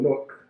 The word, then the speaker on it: Newark: When you're from Newark, this becomes one syllable, Newark. Like it's just, we take out a few letters and just make it, we shorten it.